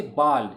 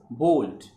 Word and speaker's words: bald: is called bald, but so many people mispronounce it, they say bald, it's not bald, it's bold, though the spelling is ba, still it is pronounced bold.